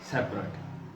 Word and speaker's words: separate: इस्तेमाल होता है तो इसकी प्रोनाउंसिएशन, इसको वैसे तो सेपरेट ही सारे पढ़ते हैं, लेकिन इसके प्रोनाउंसिएशन में ज़रा डिफरेंस देखें। ये लफ्ज है सेपरेट, सेपरेट जब ये एडजेक्टिव के तौर पर लफ्ज इस्तेमाल होता है, लेकिन जब ये वर्ब के तौर पर लफ्ज इस्तेमाल होता है तो इसको सेपरेट नहीं पढ़ा जाता, बल्कि इसे सेपरेट, सेपरेट पढ़ा जाता है, सेपरेट, सेपरेट, ये इसकी प्रोनाउंसिएशन होगी।